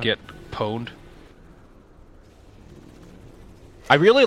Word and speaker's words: pwned: Pwned? Right? Yeah. Right. So I say The O is silent. Why is the O silent then?